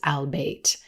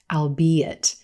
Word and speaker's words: albeit: pronounce this word as albate this word actually has three syllables and is pronounced albeit albeit it's a fun